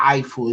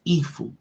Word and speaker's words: Eiffel: It's not Eiffel, it's Eiffel. You know what I'm saying? That's how they pronounce it over there.